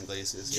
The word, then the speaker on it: Iglesias: if we're going newer age, Gabriel Gonzalez, or how do you pronounce his last name? Iglesias? Iglesias, yeah.